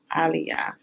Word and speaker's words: Elijah: Aliyah. Right? Remember in Hebrew there is no E. The proper pronunciation is with an A.